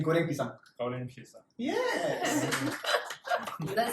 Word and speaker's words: Goreng Pisang: Okay, this is called Goreng Pisang. I want you to try Okay. pronouncing it. Goreng Pisang. Golden pizza. Goreng. Golden. Golden. Goreng. Goreng Golden Pisang. pizza. Say Goreng Pisang.